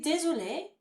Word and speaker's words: désolée: Je suis désolée. Again, that extra E on the end, although this time it doesn't make any difference to pronunciation. It sounds the same for masculine and feminine.